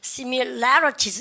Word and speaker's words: similarities: 여러분들 여기 강세 갑니다. similarities 여기 강세 찍으세요. similarities 그죠? 발음 갖다 혼자 similarities 이렇게 하면 안 되는 얘기죠.